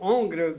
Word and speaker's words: hongre: Mais le mot hongre means gelded. I never heard that. Tu prononces jamais tu prononces jamais le H dans, Yeah. dans un mot français.